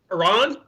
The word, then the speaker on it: Iran: for that tip yeah pronounced like Tehran well I I thought